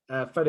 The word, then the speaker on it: Fede: I think it's pronounced Fede, but I think it was Fede because it's Federico.